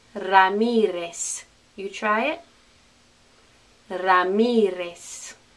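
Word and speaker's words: Ramírez: the correct spanish pronunciation ramirez ramirez you try it ramirez are you saying s instead of z ramirez okay same thing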